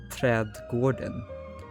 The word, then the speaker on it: trädgården: These are actually Scandinavian letters, specifically Swedish letters, and trädgården is actually pronounced trädgården.